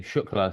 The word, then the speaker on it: Shukla: pack but and then the last name shla so sh okay good I just good because